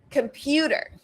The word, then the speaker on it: computer: Computer, computer, right? Again, primary stress on that second vowel, the second syllable. So right? That's schwa, the first syllable. Second syllable emphasized.